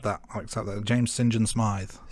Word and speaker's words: Saint John Smythe: I accept that James Sinjin Smith it's spelled Saint John Smythe but he pronounces it so yes yes thank